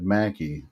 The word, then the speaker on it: McKay: spelled McKay, or maybe did he tell you it's pronounced Mackie. Oh, McKay? Scott Mackie. Yeah, I was gonna say it looks like Mackie.